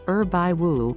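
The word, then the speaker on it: 二百五: is considered an insult in mandarin it's pronounced urbai wu which means imbecile alternatively it could be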